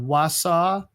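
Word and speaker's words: Wausau: So, this one starts with us in uh this small town called Wasa. W AU S AU. You can write in the phonetic pronunciation.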